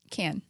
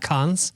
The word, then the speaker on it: Cannes: It happens in, I always say it wrong, Cannes. Can. France. Cannes, France. Not cons? Not cons. Cons. No.